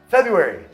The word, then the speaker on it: February: Mas, falando rápido, a gente fala February, berserk, governor, surprise. Então, o primeiro R acaba sendo omitido.